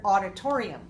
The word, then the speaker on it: auditorium: So auditorium, how many syllables? Auditorium. Auditorium. Auditorium. Auditorium. Auditorium. Five.